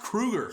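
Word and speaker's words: Kroeger: No one cared about Chad Kroger as a person. Even marrying Abil Lavine couldn't get people to care about. Did you know his name's not even Chad Kroger? It's pronounced Krueger.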